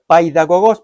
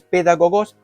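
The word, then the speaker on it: παιδαγωγός: Entonces, allí leemos ayo, aquí lo podemos mirar, es la traducción de la voz griega pedagogos o paidagogos, pero la pronunciación es pedagogos, que significa el que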